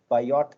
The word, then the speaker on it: Biot: symbol it is called bio number actually biot is the spelling but it is pronounced as a bio bio number with t as a silent so this bio number